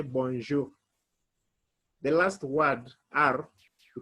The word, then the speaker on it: bonjour: pronounce it you say bonjour the last word ar you can pronounce it like kh bonjour you pronounce it from your throat in the afternoon we